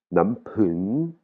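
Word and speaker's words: น้ำผึ้ง: Ou la troisième ligne, on a le mot nampun. Nampun. Nampun. Pun, hein. Il y a de l'air qui sort après le P, c'est le miel.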